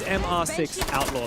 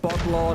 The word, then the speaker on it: MR6 Outlaw: They told me it is MR6 Outlaw. That is the correct way to pronounce it. So, it's not Botlaw, not M. It's not Mr. Botlaw. It's not Mister at all. It's MR6. They say it in Portuguese.